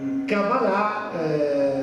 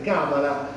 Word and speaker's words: cabalà: Beh innanzitutto perché Eh quando si dice Eh cabalà Molti dicono questo sbaglia l'accento Perché si dice sempre Cabala Ma la cabala che